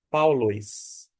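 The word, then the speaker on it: Παῦλος: ditongo de modo que o alfa com o y forma um som de au não de i na sequência nós temos o l o o e o s e a gente pronuncia paulis no grego a pronúncia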